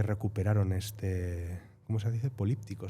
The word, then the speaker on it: políptico: políptico se dice. Sí, este político de políptico, no político, sino político de Gante.